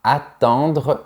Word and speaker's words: attendre: Par exemple, je dois attendre l'ouverture du magasin. Écoute bien comment je le prononce. Attendre. Remarque que pour les lettres EN, je prononce en.